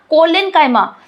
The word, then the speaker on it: collenchyma: हम लोग simple permanent tissue का 3 टाइप देखे थे, पैरेन्काइमा, कोलेन्काइमा, जिसका स्पेलिंग कैसा था, COLLENCHYMA।